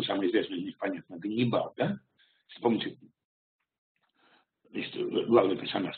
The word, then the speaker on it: Ганнибал: известное из них, понятно, Ганнибал, да? Вспомните, значит, главный персонаж, с которым воевали римляне, значит, давайте сообразим, что означает это имя. Его правильное произношение по-арамейски или по-финикийски будет «хен бааль».